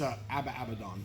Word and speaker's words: Abaddon: People can't even say if it's Abaddon or Abaddon. It's Abaddon.